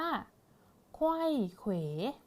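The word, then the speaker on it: ไขว้เขว: ท้าย ค่ะ คำ นี้ นะ คะ อ่าน ว่า ไขว้ เขว ไขว้ เขว อ่า เพราะ ฉะนั้น ต้น ของ เขา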